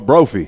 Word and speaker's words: Brophy: Brophy is it pronounced Brophy yes no it's like trophy but Brophy yes that's good you